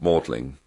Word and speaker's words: Magdalen: They were both Bishop of Winchester, who founded Magdalen College whose tower you can still see, um, as you enter Oxford.